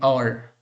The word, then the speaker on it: hour: For example, let's see, an hour, an honorable person, an honorary, an heir, right? So here an hour means O-U-R, okay? H is silent now.